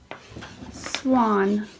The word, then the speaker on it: swan: job what about swan swan you mark your a good and what is making it a say ah how do we know it says off the W good so you can